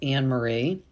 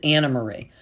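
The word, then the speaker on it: Annemarie: And we have now come to find out her name is not pronounced Anne Marie, even though it is spelled with an E. Sorry. It's Anna Marie.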